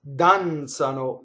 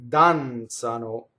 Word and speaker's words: danzano: So, danzare, to dance, danzano, they dance. Okay? So the accent is on the first syllable, danzano, and the Z is a TZ.